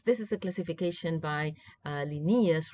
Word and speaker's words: Linnaeus: well into the 18th century when you had Linnaeus Carl Linnaeus another way of pronouncing his name right Renee is right Linnaeus like nares you will hear different ways of